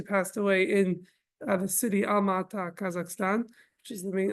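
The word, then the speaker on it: Almaty: away in the city alata Kazakhstan which is the main or maybe pronounced today almati um and that's where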